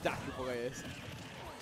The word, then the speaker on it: DrKBlaze: The K is silent. DrKBlaze.